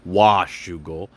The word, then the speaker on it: Washougal: correct me and say that I need to pronounce wash Google um it looks like Alpine Stars got a